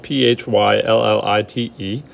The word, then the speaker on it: phyllite: four is philite philite is pronounced fill light but it's spelled p-h-y-l-l-i-t-e philite's got a little